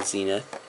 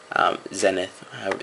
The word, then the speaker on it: Zenith: Then I run Life's Finale, Black Sun Zenith. Zenith. They're both acceptable pronunciations.